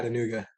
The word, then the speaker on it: Chattanooga: I'm gonna let you pronounce the club because I don't want to butcher it. Chattanooga.